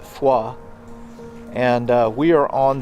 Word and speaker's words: Foy: Uh so we are in between Baston and the town of Foy. I think locally they pronounce it Fua.